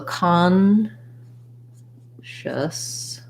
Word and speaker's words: consciousness: be helpful for you so consciousness has first syllable stress and because the letter o and the syllable the letter c o n are stressed in this word that o is gonna say ah so i'll rewrite it